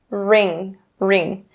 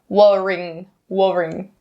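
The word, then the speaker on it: wring: a noun ring ring even though this word is spelled with a w we don't say worrying no just ring ring and the last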